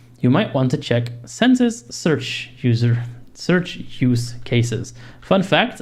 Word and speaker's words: Censys: Census, on the other hand, focuses on internet-connected hosts, websites, certificates, and other internet assets is how you pronounce that word.